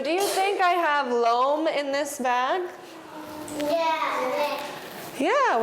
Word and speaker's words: loam: and we call it loam it rhymes with home loam home they kind of have the same sound at the end so loam is when